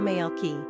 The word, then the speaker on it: Malakai: pronunciation Mal key simple meaning My Messenger